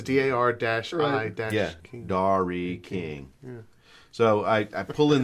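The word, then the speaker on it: Dari King: It's like pronounced dairy. Right. But it's the way it's spelled. It's like dash is D-A-R dash I dash King. Dairy King.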